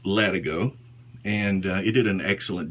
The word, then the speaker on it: Latigo: It's a number 30 Latigo strop, or some people may say Latigo, but it's pronounced Latigo, and it did an excellent job.